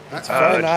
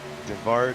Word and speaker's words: Varanauskis: Varanauskis. Jonathan Varanauskis. Varanauskis. Nope. Devar. Nope. Varanauskis. No D. Just ignore the D. There's no D.